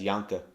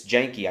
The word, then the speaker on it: Janke: Null always mispronounces it as Janke. It's Janke.